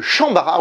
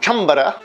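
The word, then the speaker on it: chanbara: Le Shambara ou Chambara, si on le prononce à peu près correctement, est un terme qui vient d'une onomatopée.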